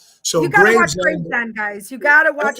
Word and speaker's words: Gravesend: Is it Gravesend? Yes, Gravesend. Yep. Graves, like graves where you get buried at, and end. Yep.